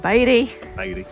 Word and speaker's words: Beatty: by the Nevada and for the British people Beatty BT Nevada but it is pronounced baby um and there's Burrows donkeys that roam the